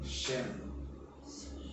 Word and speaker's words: Shem: Es curioso porque si todavía nos vamos al hebreo, famoso en hebreo se escribe Shem, con SH, digamos, trasladado al español, SHEM.